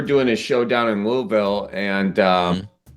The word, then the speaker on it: Louisville: a show down in Louisville, and which I think I kind of mispronounced that. I know it's not Louisville.